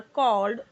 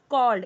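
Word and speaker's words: called: कैसे पढ़ रही हूं कॉल्ड यहां पे काल्ड नहीं होगा या कॉलेड या कालेड नहीं कॉल्ड animals living in jungles देखिए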